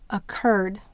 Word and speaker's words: occurred: How about occurred? Occurred. Where will we have the accent? Occurred. It's on the cur.